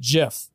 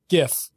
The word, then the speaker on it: GIF: with me the most stop calling it jiff it's gif with a hard g by uh at bhrome